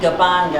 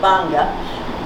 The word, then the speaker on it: Gbarnga: i heard about the i pronounce it gabanga and i'm wrong it's simply banga mission in liberia and